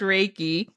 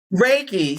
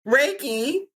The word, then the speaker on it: Reiki: It's actually pronounced Reiki. Reiki. See what I'm saying? This is what I'm talking about. Reiki. And the thing is, I think I was pronouncing it before. Reiki.